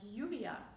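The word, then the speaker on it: lluvia: not lay anymore so single l is le and double l is ye and in that case you get the sound like yuvia which means rain or yama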